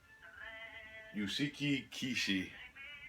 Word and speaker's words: Yusuke Kishi: Yusuke Kishi. That's how you pronounce the author's name that this movie was based off of.